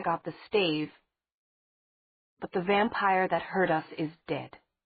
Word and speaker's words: vampir: You thought that there was only one vampir? Her mother got out. She pronounced the word the Hispanic way, which Meredith always found more scary.